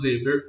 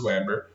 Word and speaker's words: Weber: compreensiva está relacionada a Max Weber ou Max Weber, como o indivíduo quiser pronunciar.